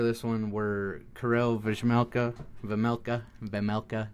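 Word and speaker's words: Vejmelka: Uh, goalies for this one were Carell Vmela, Vamela, Vamela, no J. Don't pronounce the J. It's a VMLa.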